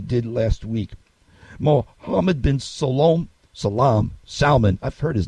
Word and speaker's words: Salman: Except that I've heard it pronounced Salman and Solman and all kinds of other ways from TV pundits. But I'm trying to say his name right, though. The Arabian way.